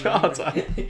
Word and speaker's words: Schade: Yeah, I can't pronounce his name in German. Schade. Schade. It's spelled Shade.